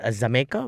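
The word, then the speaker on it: Xaymaca: they have uh it's it's called zameka which is the old Jamaica which is the old pronunciation of Jamaica yeah so they have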